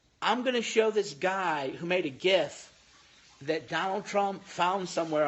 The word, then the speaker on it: GIF: It's GIF, not GIF like the peanut butter.